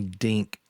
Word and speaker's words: Dink: I was MC Dink. That rhymes with think.